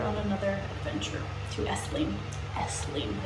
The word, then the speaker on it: Esslingen: Esslingen.